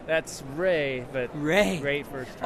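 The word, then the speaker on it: Rhea: That's Ray, but Ray. Great first time. R-H-E-A, pronounced Ray.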